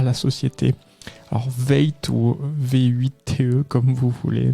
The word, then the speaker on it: V8TE: à la société alors veille tôt v8 que comme vous voulez mais je pense que ça se prononce veille tu sais donc société française